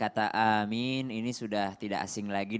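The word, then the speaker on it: آمين: Dalam kitab Fathul Bari disebutkan 2 pengucapan amin yang benar ketika orang dalam keadaan sholat. Yakni yang pertama adalah mad badal di huruf hamzanya 2 harokat, dan min itu ya-nya itu adalah mad arid lis sukun maksimal 6 harokat.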